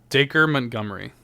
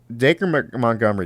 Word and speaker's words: Dacre Montgomery: Yes, because it's so the acre part is pronounced like acre, and if you're in the UK you would say acre, but in in America we say acre.